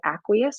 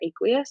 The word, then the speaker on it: aqueous: this aq which means aqueous or aqueous i've heard it pronounced both ways um that just means